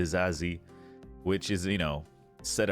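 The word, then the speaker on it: Disasi: uh the new signing apparently you say his name disassi yeah something like that I mean I would pronounce it to sassy The Sassy yeah that's what I was saying too but apparently it's the zazi which is you know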